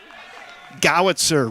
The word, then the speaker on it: Gozer: and two on Matthew Gozer Gozer rhymes with Howitzer hitting in the four